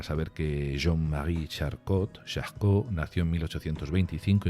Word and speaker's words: Charcot: muy poquitas líneas Quién es ese chasco se escribe charcot tienes ese chasco que